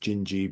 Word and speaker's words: Dindi: The Great Dindee, which is really which I think is pronounced Gingi, but spelled Dindi.